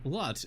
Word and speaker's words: Lotz: That's why I just say my name, Lotz, L-O-T-Z, every time. Like the store, Big Lots.